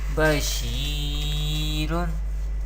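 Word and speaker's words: بشير: Here ya has sakin, and there is zer before ya sakin. Therefore ya madda rule is happening here, and we pronounce madda letters by stretching up to one alif or two harakat. And ra has tanween do pesh. We pronounce like this, bashirun.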